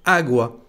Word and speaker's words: agua: agua qui signifie eau quand on le prononce vous entendez que l'accent porte sur la première lettre agwa et bien pour cette